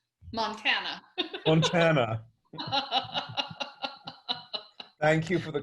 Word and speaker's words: Montana: By the way, I've never asked, do you pronounce it Montana or Montana? Neither. Montana.